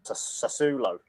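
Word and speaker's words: Sassuolo: don't you so uh i think it's pronounced sasulo yeah here's a random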